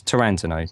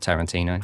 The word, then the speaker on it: Tarantino: So if you can people just remind your friends that it's Tarantino, not Tarantino.